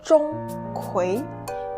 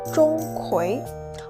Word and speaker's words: Zhong Kui: And about the tones, the first syllable, Zhong, is flat, like a high steady note, ah. The second syllable rises, like a voice going up at the end of a question, ah.